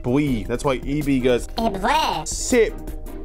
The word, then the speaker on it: V: Never said V in Japanese, it's pronounced Bui.